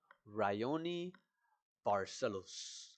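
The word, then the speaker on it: Raoni Barcelos: But yeah, next fight on the card, we have Cody Garbrandt versus Ryioni Barcelos, I believe is how you say his name.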